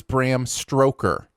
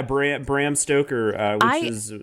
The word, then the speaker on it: Bram Stoker: for this show i thought his name was bram stroker not stoker so i've always said bram stroker's